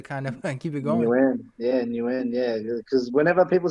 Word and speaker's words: Nguyen: So for me, I just stick to what I know, and it's new end. I guess as long as people don't start pronouncing the G and stuff like that, it's like, you know what, close enough.